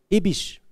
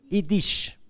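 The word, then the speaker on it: yiddish: comme ça qu'on prononce comment on prononce ibich idich ok merci beaucoup c'est en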